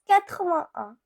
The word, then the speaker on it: quatre-vingt-un: Now 81, it is pronounced as quatre-vingt-un.